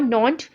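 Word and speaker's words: Nantes: आपके इलाके यहाँ पे मेंशन किए बेडो और नॉन्ट, ठीक है, इसको इसी तरह से प्रोनाउंस करते हैं इन वर्ड्स को, और आप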